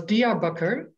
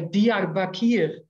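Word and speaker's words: Diyarbakır: Or the city where I lived was Diyarbakir, but many Dutch people say Diyarbakir. That's really not the name of the city.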